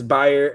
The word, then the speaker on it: Bayer: I'll give you It's buyer buyer lever cusen.